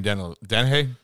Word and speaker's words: Dennehy: So of course it's a cliche, but I have to say this: Brian Dennehy. That's how you say it. Dennehy.